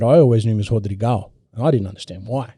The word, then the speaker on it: Rodrigo: The R at the start of a word is actually pronounced as a H. Yeah. So, Henzo Gracie. Henzo, Henner. Exactly. Yeah. So they're not really R's, they're H's. So Rodrigo is not like Rodrigo, it's Rodrigo.